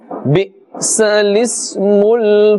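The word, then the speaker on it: بِئْسَ الِاسْمُ: Bi'sal ismul fusuq. So you can understand how we are pronouncing this. Bi'sa lismul. Lismul. Those two alifs before and after are silent.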